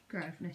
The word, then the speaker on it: Grosvenor: Grosvenor Street. it's spelled with an S.